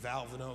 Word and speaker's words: Valvano: The Oval Office, the President of the United States, says, how do you pronounce that? I said, Valvano.